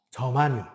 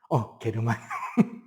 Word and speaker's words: 저마늄: 저마늄. 이거 이제 원소 명칭이 바뀐 거죠. 저마늄. 그럼 옛날 이름은? 게르마늄. 독일은 게르마닌이, 저머니니. 유럽식 발음은 게르마니 맞아요. 미국식 발음은? 저머니. 해서 저마늄. 원래 게르마늄.